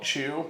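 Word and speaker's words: Qu: So the reason this is made different than any other kind of spirit is they have this thing called Chew, which is spelled Q-U, and it's like basically natural yeast and microorganisms they use.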